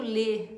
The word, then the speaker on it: le: um D e o le, né? Le, tô falando em português, né? Mas a pronúncia certa é le.